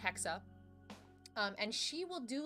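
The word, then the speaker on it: Hexe: name is hexa uh h-e-x-e it's German it's pronounced hexa um and she will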